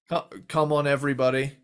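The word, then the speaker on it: Cum On Everybody: If you don't know it, it's spelled CUM, but it's come on, everybody, and it's get down tonight.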